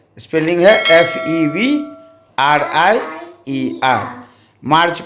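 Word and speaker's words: Mars: ईवी आर आईई आर मार्च को मार एम ए आर एस इसमें एस साइलेंट है ठीक है अप्रैल को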